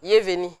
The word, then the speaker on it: Yeveni: Yeveni. Yeveni. C'est pas Yeveni quand. Non, mais c'est Yeveni. C'est un Ban. C'est un Ban, Yeveni. Ça veut dire, bon, si tu veux prononcer un Ban, tu dis Yeveni.